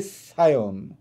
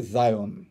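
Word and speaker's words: ציון: আমরা যারা হিব্রুতে বলি দাউদ, এই দাউদ নবীর কতগুলি টেম্পল প্রতিষ্ঠা করেছেন, যেটাকে আমরা বলি সায়ন। আমরা ভুল উচ্চারণ যেটাকে বলি জায়ন।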